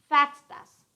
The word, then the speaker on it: FXTAS: And second one is that it is pronounced as FAXTAS, pronounced as FAXTAS, FXTAS, FAXTAS.